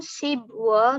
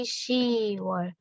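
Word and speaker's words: 시월: Kemudian bulan 10, bukan sibwol, tapi siwol.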